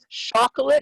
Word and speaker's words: chocolate: it was tricky so the difference uh here is between the um the stop and the continuant so shh yeah continues and stops